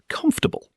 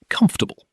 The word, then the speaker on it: comfortable: Stress on comf, the first syllable. Tip, we said this one before, but let's practice the stress specifically. Comf is loud and long. Everything after is quiet and quick.